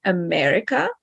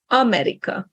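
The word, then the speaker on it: Amerika: So, for example, in English, we say America. In Hungarian, we say America. So stress on the first syllable on the A, America.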